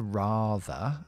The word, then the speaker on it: rather: Y luego, la palabra rather aquí, pronunciado muy parecido a father, excepto la R que se cambia de la F.